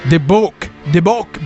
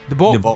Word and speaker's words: Dibbuk: It's not Dibbuk box, guys. Dibbuk box. Dibbuk box. Something like that. He's also the author of the Dibbuk box, Jason Haxton, and the owner of the Dibbuk box.